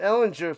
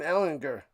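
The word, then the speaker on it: Ehlinger: They I guess uh he let everybody know it's a soft G cuz I've been calling him and people been calling him Ellinger for years, but it's Sam Ellinger.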